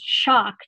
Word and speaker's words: Schoch: OCH but it's pronounced shocked just like getting an electrical shock and he's written a